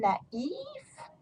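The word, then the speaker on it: naïf: And that sounds going to be naif. So masculine, naif, feminine, naive.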